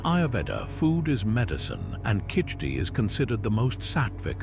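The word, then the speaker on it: khichdi: Kiti pronounced kitri.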